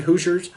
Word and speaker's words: Hoosiers: most famous hoes losers Hoosiers is how you pronounce it Hoosiers Bob and Doug McKenzie get jobs at the